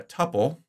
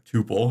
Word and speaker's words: tuple: the list it looks like we've got a tupple or tuple however you want to pronounce that for each record so this would